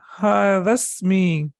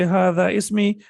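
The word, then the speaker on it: هذا اسمي: Ismun, and we know that the hamza of ismun is hamzatul wasl. So we will say hadasmi, hadasmi, this is my name. So when you're reading it, you say hadasmi.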